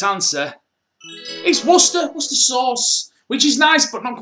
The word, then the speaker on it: Worcester: sauce worcester or winchester is it worcester or worcester or what i don't even know i'm pretty sure the locals just pronounce it worcester the correct answer is worcester what's the sauce which